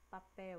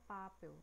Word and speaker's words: papel: Mesma coisa de papel. Papel. A gente não fala papel. A gente fala papel, né? A gente percebe que a sílaba que tá puxando mais, que tá mais demoradinha, é a pel.